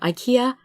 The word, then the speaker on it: IKEA: And although Ikeda and IKEA are spelled rather close, IKEA is a Swedish word, and it is pronounced nothing like the Japanese Ikeda, because like I said, I is pronounced E, so Ikeda.